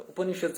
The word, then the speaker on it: Upanishads: That's my first ever time hearing anyone say Upanishads. Now I know how to pronounce it. Not Upanishad. Like I didn't say Upanishads.